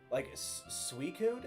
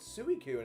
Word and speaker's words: Suicune: Honestly, sometimes I ignore the way people mispronounce certain Pokemon because sometimes they do it intentionally to bait a reaction. Yeah, definitely. Suicune is one where I hear people still call it Suicune, and I'm like, what?